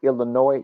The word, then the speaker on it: Illinois: Chuck don't make sure when you pronounce the word Illinois you do not use the S don't don't use the